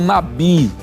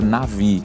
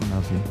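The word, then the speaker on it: נביא: antigo testamento era o Nabi não a pronúncia correta seria Navi Navi porque o Bet não está com o dages no meio assim como a gente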